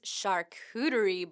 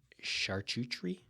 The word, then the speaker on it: charcuterie: Coming up at the Erie and Luna Pier branches is charcuterie boards. No, that's pronounced charcuterie.